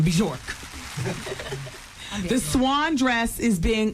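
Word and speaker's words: Björk: And she even pronounced the J in the name, Bjork.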